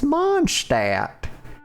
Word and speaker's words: Mondstadt: It's Mondstadt. You just drop the D.